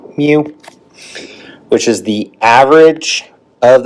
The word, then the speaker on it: mu: So it's pronounced mu which is the average of the data set and also the standard deviation.